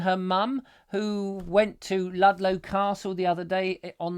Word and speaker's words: Ludlow: are you down there in Ludlow or lude low as other people sometimes like to pronounce it which would be very silly because I don't think I've heard anybody pronounce it like lude low but you know over